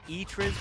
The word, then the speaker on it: Itriz: Yeah, I mean, Quackhead's just fighting, flirting with 6 to 10 points, and, well, it's pronounced Itriz, by the way.